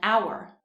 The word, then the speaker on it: hour: We would say a house, but we would say an hour. The H is silent in the word hour, and so it begins with a vowel sound.